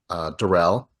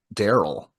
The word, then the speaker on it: Darrell: Oh, on the challenge, there's a guy named Darrell, but his who's a black man, and his white friend Derek pronounces it Daryl, and it's just like two completely different fucking names, and I just feel